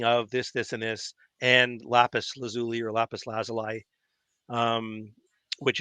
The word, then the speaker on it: lapis lazuli: is lapis lazuli.